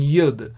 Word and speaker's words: yod: of segal sometimes also the letter yod is pronounced as youth as well so you might hear me saying yud sometimes so don't worry